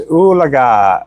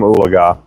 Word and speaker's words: Oolagah: Yeah, it's Oolagah. Oolahgah. Oolagah. We had a player that was in the NFL that was from Ulaga, and they would pronounce it Ulaga.